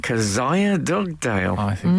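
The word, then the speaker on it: Kezia: the in the jungle is it Kia dogale or kzia I think the producer is pronounced kazia Kaz kazia dogale it might be a Hebrew name I'm not sure that's a good I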